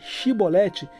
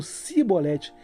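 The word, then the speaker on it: Chibolete: A palavra Shibolete, que significa espiga ou corrente de água em hebraico, se tornava um teste de identidade, pois os efraimitas não conseguiam pronunciar corretamente dizendo Sibolete.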